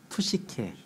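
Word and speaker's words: ψυχή: 푸시케.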